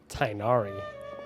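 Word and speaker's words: Tighnari: Tainari. Now I know how to pronounce his name as well.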